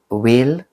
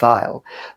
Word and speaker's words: Weil: Merveilles et Fleures by Weil, or I would pronounce it Weil, but the German way, W-E-I-L, but they are some sort of design.